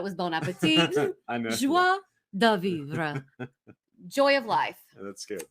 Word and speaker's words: joie de vivre: Joie de vivre.